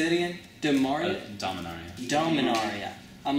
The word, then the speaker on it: Dominaria: Dominaria.